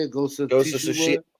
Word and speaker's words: Tsushima: Ghost of Tsushima. Tsushima.